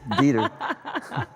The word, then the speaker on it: Dieter: So once more, you work with Paul Dieter. I hope I pronounced that right. It sounds so German. Dieter, oh, yeah. I would imagine you would pronounce that right. It's Dieter.